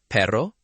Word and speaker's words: perro: First, perro, carro, arreglo. Feel the light trill in the middle. Perro, carro, arreglo.